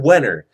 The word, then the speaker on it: Wenner: Roll Hall of Fame, his last name rhymes with Wiener, something, Jen Wenner.